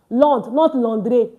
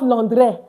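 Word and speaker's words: Londres: So, please Londre, not Lre.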